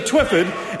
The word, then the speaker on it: Twyford: Mr. Twyford's name is pronounced Mr. Twyford, and the Minister knows that.